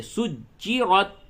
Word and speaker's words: سُجِّرَتْ: وَإِذَا الْبِحَارُ سُجِّرَتْ، را کو پر کریں اور تا میں قلقلہ بالکل نہ کریں، یعنی تا کی ادائیگی میں ٹکراؤ نہیں ہوگا بلکہ ہلکے سے سجرت.